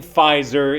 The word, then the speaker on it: Pfizer: It's just that the P in Pfizer is silent.